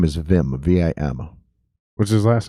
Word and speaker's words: Vim: Wait, Vin Mercy? Nope. His name is Vim, V-I-M. What's his last name? Agiri. It's spelled Aguirre, Aguyurre.